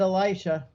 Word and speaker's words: Elisha: And it's hard to make people, did he say Elijah or did he say Elisha? So we did the Catholic pronunciation, but my wife had to keep saying, cut, you said Elisha.